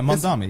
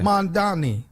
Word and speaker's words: Mamdani: Am I pronouncing that right? Yeah, Mamdani. Yeah, Mamdani. Yeah. Okay. It looks how it sounds.